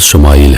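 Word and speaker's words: ישמעאל: خوشخبری سنا دی گئی۔ عبرانی زبان میں اسماعیل کا تلفظ شمائل ہے۔ شما کے معنی ہے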